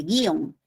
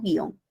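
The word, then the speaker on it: guion: Pero tú sabes que nadie dice guión. Todos pronunciamos guión. Entonces es imposible, pues chicos. Esto es un monosílabo, es un diptongo.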